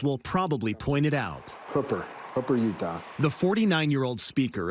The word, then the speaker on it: Hooper: yeah Mike Schultz will probably point it out Hooper hoer Utah the 49-year-old speaker of the Utah